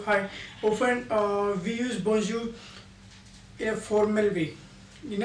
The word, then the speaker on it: Bonjour: greetings okay b b b we will not pronounce are here okay Bon B Bon okay bonu bonu means good morning good good morning okay